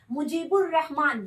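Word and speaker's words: مجیب الرحمٰن: मुजीबुर रहमान, बे के बाद लाम का प्रोनाउंस नहीं हुआ है, डायरेक्ट रे बोल रहे हैं, मुजीबुर रहमान।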